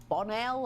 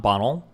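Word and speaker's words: Bonnell: Watch him school this lefty, Steven Bonell. I've never heard of him. He's called Destiny appar. Oh my god. She pronounced my name correctly the first time. Bonell, not Bonnel.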